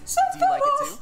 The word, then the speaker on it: Sephiroth: What did you say it like Sephiroth. That? That's the way they say it. That's too fucking fancy. Sephiroth. No, it's Sephiroth.